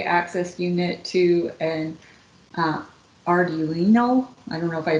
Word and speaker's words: Arduino: connected a three access unit to an uh Arduino? I don't know if I pronounced that right. Right. A R D U I N O.